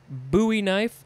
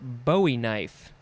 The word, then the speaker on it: bowie knife: now we have uh so this can be pronounced a couple ways buoy knife or bowie knife i'm sure people have